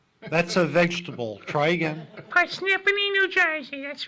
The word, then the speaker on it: Parsippany: Parsippany, New Jersey. That's right. It looks like Parsippany, but it's Parsippany. They always spell it and pronounce it incorrectly.